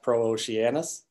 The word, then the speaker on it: Pro-Oceanus: make us I should make clear it is pronounced pro Oceanus we do get that question a lot so